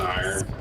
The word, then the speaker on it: iron: It's an iron. An iron. If you're from Baltimore, it's iron. Earned an iron earn.